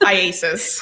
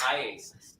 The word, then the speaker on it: IACIS: How do you say it? IASIS. IASIS.